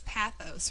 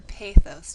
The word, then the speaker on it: pathos: all your speeches is is pathos or posos depending on which dictionary you look up the pronunciation in and it has to